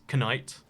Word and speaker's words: knight: Like, think about the word night versus knight. We don't say the K.